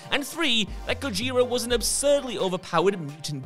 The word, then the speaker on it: Gojira: band two that it's the japanese pronunciation of the original 1954 godzilla movie and three that gojira was an absurdly overpowered